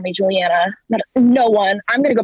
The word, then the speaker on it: Julianna: mispronouncing my name because it's juliana not juliana and i call you